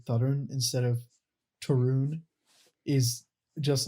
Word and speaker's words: Tarun: Tarun.